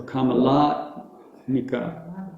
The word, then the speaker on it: Kamalatmika: It only has one long A, and that's the middle one, La. So Kamalatmika. The LA is long.